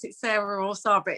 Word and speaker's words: Sara: Some people pronounce it Sarah or Sara, but it's spelt the same as me. So I think it's Sara. Sara Elizabeth. Hey, hi. Hi, is it Sara or Sarah? It's Sarah.